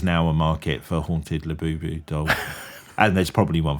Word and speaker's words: Labubu: have you seen my Labubu doll? Yeah. But you can also use it in the sentence of, where did he touch you on my Labubu? Well, but it also rhymes with voodoo as well, so there's a bit of that.